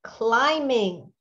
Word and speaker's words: climbing: last week and it's climbing i know remember that i remember there's a silent letter in there climbing climbing don't forget